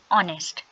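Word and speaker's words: honest: H silent हो गया। एंड दी uh sound is a vowel sound. तो हम क्या प्रोनाउंस करते हैं? ऑनेस्ट। एन ऑनेस्ट।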